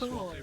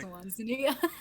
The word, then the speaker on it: Swansea: So He pronounced Swansea wrong. The only thing I remember about that podcast is he said Swansea. I was like, Swansea.